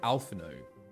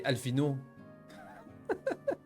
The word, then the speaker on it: Alphinaud: Okay, do I pronounce these in French or an anglicized version? Do I do an anglicized version? Because I say Alphinaud. I don't say Alphinaud.